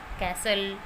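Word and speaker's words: castle: में है और वो टी के बाद है, टी उससे पहले है तो वहाँ टी साइलेंट रहता है। For example कैसल, कैशल, we shall, हसल। तो यहाँ पर वर्ड के लास्ट में एल ई है और उससे पहले टी है तो ये टी यहाँ पर साइलेंट है।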